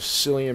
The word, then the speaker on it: Cillian: real quick does jimmy remind everybody anybody of cillian murphy if i said it right yes yes yeah alien i mean i yeah killian yeah yeah i know the name i don't